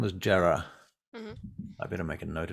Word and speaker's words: Jera: one um we're gonna say her name was jarrah i better make a note of that before